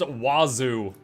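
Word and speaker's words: oiseau: of a problem yeah oal which is pronounced wazu yeah you should watch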